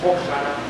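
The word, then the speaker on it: Hosana: de hebreo, le digo, ¿cómo se dice Osana? Dice Hoshana.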